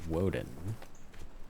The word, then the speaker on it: Woden: the original form of Odin, which was called pronounced Woden that's where we get Wednesday from for anybody